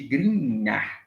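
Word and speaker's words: Grignard: Na síntese orgânica, que é uma reação com reagente de grinhar. Grinhar, tá? Se chama-se grinhar, pronúncia, tá, pessoal?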